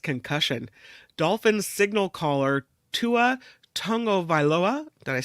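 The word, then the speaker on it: Tagovailoa: I I'm just say kudos to Kim it's Tonga vioa wow very good yeah I really worked on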